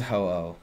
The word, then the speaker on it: Ho-Oh: Yeah, it is Ho-Oh. Yes, that's right. Yeah. Exactly, fluorescent potato, right? That's how you say it, ho-oh.